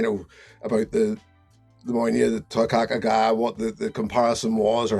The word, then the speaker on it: Toiteach A Dha: This time we're reviewing the Bunnahabhain Toiteach A Dha. That's the way it's pronounced, I'm told.